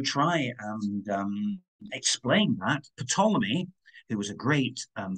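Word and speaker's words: Ptolemy: the um geocentric model of pomy it's a silent p in there but I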